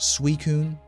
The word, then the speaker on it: Suicune: name how are you supposed to know it's pronounced suicune i've been roasted to a crisp on the